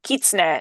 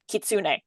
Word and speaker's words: kitsune: the Fox Magic Games, may notice that we tend to pronounce the word kitsune, not kitsune. Yeah.